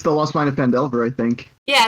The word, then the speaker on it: Phandelver: um it's vandalsburg it's the lost mine of fendelver i think yeah it's fandelver but it's vandalin yeah you i hate it